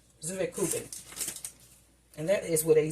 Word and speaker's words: Zwetschgenkuchen: Or, let me pronounce it again, Zuwekuchen. Zuwekuchen.